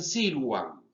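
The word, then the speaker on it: silvam: Por ejemplo, silwam, se cree que los latinos, los romanos, pronunciaban nuestra B corta como una U. Entonces decían silwam.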